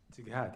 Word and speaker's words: TGAT: Do I pronounce it? Tighat, yeah.